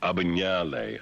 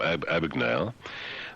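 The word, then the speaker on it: Abagnale: Um he's of Italian descent because his name is uh Aishim Franco Abinale Ab. But being American they call him Abagnail.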